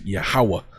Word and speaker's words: Yahuwah: go to the Hebrew the name is yahuwah We Believe through faith that's how you pronounce it right so he's saying